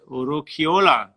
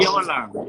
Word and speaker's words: Urquiola: Urquiola. Urquiola. Urquiola. Say it wrong. Urquiola. Yes. I personalize it. I like it. It's good. You know, it's a Basque name.